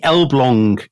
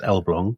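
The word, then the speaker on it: Elbląg: So, this is the Elblong canal. Um it's spelled Elag, but it's pronounced Elblong, so my uh Polish contacts tell me.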